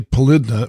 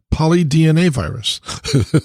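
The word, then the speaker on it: polydnavirus: have a naive question why did you say polidna when it's polydna virus because people say polynomial yeah but i try and pronounce things probably i understand i don't always get it right if you say poly dna at least you know what kind of virus it is belidna right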